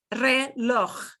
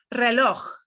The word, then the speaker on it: reloj: But this is a tricky one to say. Reloj. It sounds a lot like the Scottish pronunciation of Loch, like Loch Ness. Yeah. Reloj.